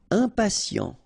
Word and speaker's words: impatient: Impatient. Okay, remember, final T not pronounced. And then you get this T, I and a vowel, so sien.